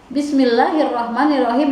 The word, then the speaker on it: Bismillahirrahmanirrahim: Kebanyakan orang membaca Bismillahirrahmanirrahim dengan bacaan seperti ini. Bismillahirrahmanirrahim. Itu adalah pelafalan yang salah, yang kurang tepat.